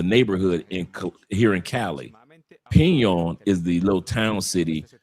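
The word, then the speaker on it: Peñol: Pon. Yep. That's how you pronounce a pon.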